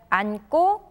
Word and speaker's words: 앉고: For example, the verb 앉다, when it is followed by the suffixes 고 or 지, they're pronounced as 앉고 and 앉지.